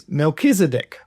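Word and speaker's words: Melchizedek: you've you might won't you might say it Melchi Melchisedc or Melchisedc whereas it's from my understanding and you can correct me if I'm not. It's Melkchisedc.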